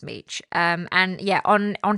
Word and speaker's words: Mech: So, it looks like mech, but apparently um it's pronounced Meech.